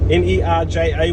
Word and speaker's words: Nerja: So we've had a nice little detour here to Nerja, N-E-R-J-A, which is actually pronounced Nerja.